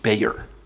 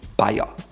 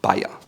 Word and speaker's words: Bayer: and most people in the US call it Bayer. However, it's called Bayer. Simply Bayer, which in German has another meaning, which is a Bavarian. Again, it's pronounced Bayer.